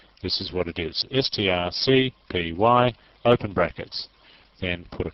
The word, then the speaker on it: strcpy: Strcpy. That's how you pronounce that, S-T-R-C-P-Y, strcpy. Or you can say string copy if you like, if you want to be literal about it.